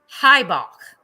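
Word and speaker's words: Heubach: is gosh tiger itch let me spell it out h-e-u-b-a-c-h highbach i think that's the way that it's spelled gotta have that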